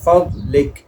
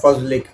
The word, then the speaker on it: فضل: انی اسألک من فضلک، جیسا کہ عام تلفظ میں کہتے ہیں فضلک، فضل ہے نا، اردو میں ہم کہتے ہیں، لیکن اس کا صحیح تلفظ ہے فضلک، بعد زواد نہیں ہے، اس سے علماء کرام نے منع فرمایا، فضلک، فضلک نہیں پڑھیں گے اس کو۔ تو یہ ہمیشہ یاد